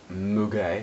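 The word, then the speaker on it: muguet: of the Valley um which is sometimes written down as mug which is how you say it in French um so you've got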